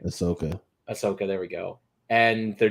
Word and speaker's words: Ahsoka: But they're still doing Osaka, or I can never say her name. Ahsoka.